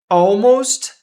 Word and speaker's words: almost: Esse T a gente quase não lê também.